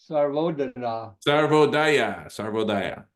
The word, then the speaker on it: Sarvodaya: And there is a group in Sri Lanka called the Sarvodana. Sarvodaya. Yeah, it's not Daya though. It's kind of like Vandana is actually Vandana in in Indian.